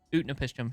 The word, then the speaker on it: Utnapishtim: I feel like Utnat should... I keep mispronouncing his name. Utnapishtim should be a Githyanki, but that's just me.